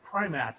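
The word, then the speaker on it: Prymaat: Her name is pronounced Primat, and it's Coneheads.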